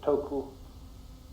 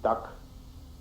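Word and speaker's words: 德: The Japanese pronounce it toku, the Cantonese dak, and the northern Mandarins approximately de.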